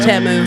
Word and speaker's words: Temu: It's pronounced Temu. Timu. Are you kidding me? No, Pronounced they did Temu. that. They rebranded as Temu.